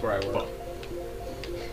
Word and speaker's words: pho: Bo? Pho, it's where I work. Pho. It's pronounced pho. Like P-H-O. It's pronounced pho. It's Vietnamese.